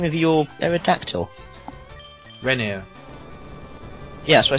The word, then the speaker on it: Renier: It's not spelled like banana. Renner. he's just addicted to R's. Yeah, but they're both together. They're double R's. So that means like they sound... It's not Renner. It's just Renier.